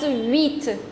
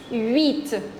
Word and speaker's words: huit: The next one is the number 8, and that's huit. Huit. Always note down that in French we do not pronounce the letter H. We write it, but it's always silent. Okay? It's huit.